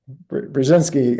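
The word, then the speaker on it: Brzezinski: Cohen U binski uh bring you have to pronounce that better for me yes brzinsky I had a hard enough time with his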